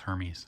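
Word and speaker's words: Hermès: thought I'd own one it's pronounced Hermes it is not uh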